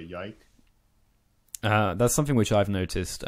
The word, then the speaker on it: Ylke: Well, I don't do much, but anyway, my name is it's not Yike, it's actually Ilke, but because many English speakers have trouble pronouncing it, they say Yike.